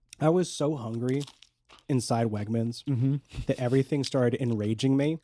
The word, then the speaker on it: Wegmans: I was so hungry inside Wegmans that everything started enraging me. Right. And the fact that you kept pronouncing it Wegamans Like I almost really started mad.